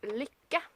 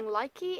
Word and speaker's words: Lykke: that log is up there and I also pronounced Lika in a video and that would be those knitting needles that everybody is calling likey and like ah that's not how you pronounce